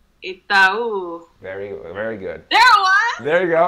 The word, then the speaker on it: Itaú: So the pronunciation is Itaú.